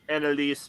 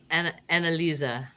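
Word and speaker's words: Anneliese: Annalise Michel. Yeah, except it's Annalisa. The E is pronounced as an A.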